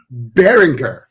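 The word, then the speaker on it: Baringer: I I furiously Googled it and it's Bryce berringer bearing very good that is the official pronunciation as listed by the school um so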